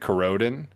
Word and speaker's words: Corroden: Yeah, it's I guess I'll publicly announce I pronounce it Corroden, like corroding, so Corroden.